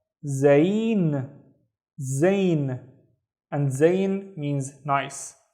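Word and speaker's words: زين: I see one vowel, so it's only one syllable. We have zain.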